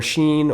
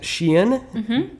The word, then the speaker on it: SHEIN: And by the way, it's not pronounced Shine or Sheen or any of those things that I thought it was before doing the research for this video. It is, in fact, Shein.